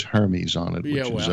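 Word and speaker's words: Hermès: That Apple sells, and it says Hermes on it. Yeah, which well, is a, Hermes. Which does, Hermes, it's pronounced Hermes.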